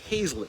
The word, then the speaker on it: Hazlett: and it's Hazlett, not Hazlitt, by the way.